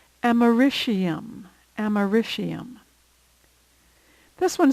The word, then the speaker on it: americium: It's often pronounced fluorine, but I believe the preferred pronunciation is fluorine. Americium, americium.